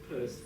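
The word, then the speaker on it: Pearse: So now it's one thing you can know how to say the word Pierce, Peirce, verse, Peirce, although Yeats is, anyway.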